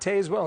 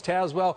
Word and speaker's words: Tazewell: It's not Tazewell, it's Tazewell.